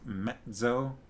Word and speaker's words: mezzo: would have cut teak you always hear it pronounced mezzo all right mezzo soprano vimes's ragged forebears were used